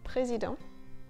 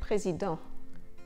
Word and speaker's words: président: President, président. Here the pronunciation goes from ant, president, urgent, to en. A sound that's quite specific to the French language. It's written ent, but the t becomes silent. En, président, urgent.